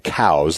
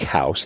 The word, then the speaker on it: Coues: naturalist named Elliot cows his name was pronounced like house people would mispronounce all the time saying cows like a cow kind